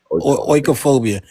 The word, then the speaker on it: oikophobia: How you say it? Oika, OIKA. Yeah, oikophobia, and go to Grokpedia to get the definition for it.